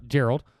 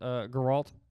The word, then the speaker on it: Geralt: But we'll start with Gerald of Rivia. Oh no, it's Geralt. Yeah, it's not Geralt. It's Geralt.